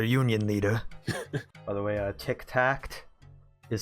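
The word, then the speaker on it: Tik-Tacht: By the way, Tic Tact is spelled TIK hyphen TACHT.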